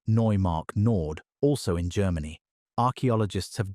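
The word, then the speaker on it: Neumark-Nord: At Neumark Nord, pronounced Neumark Nord, also in Germany, archaeologists have documented the butchered remains of roughly 70 straight-tusked elephants.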